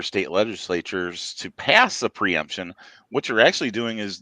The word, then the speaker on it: preemption: So I'm interested now in, he brought this up, in these preeminence state, am I pronouncing that correctly? Preemption.